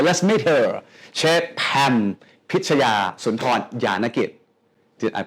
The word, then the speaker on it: Pichaya Soontornyanakij: Chef Pam Pichaya Soontornyanakij. Did I pronounce this right?